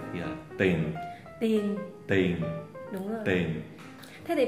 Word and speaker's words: tiền: Những từ có ie thì kiểu như bỏ chữ e. Ví dụ tiền thì là tiền.